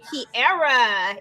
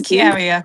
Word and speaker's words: Kiaria: Kiara in the building. Is that how you pronounce it? No, it's Kiaria, but Kiara.